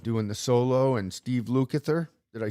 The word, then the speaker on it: Lukather: Like Mark said, Eddie Van Halen doing the solo and Steve Lukather.